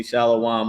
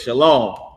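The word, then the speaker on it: שלום: And some people pronounce it wrong and they say shalawam or whatever but they pronouncing it wrong but that's the word it's shalom.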